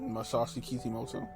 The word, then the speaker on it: Masashi Kishimoto: Masashi Kishimoto. You was close enough. How you say it? Masashi Kishimoto.